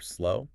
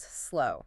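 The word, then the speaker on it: Slough: So you might try sloof or slow. You might. But the actual pronunciation for this town is slow. Slow. So it rhymes with cow or now.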